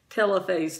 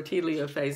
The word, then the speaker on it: telophase: metaphase two anaphase two telophase two or teleophase i've heard it pronounced both ways and then cytokinesis again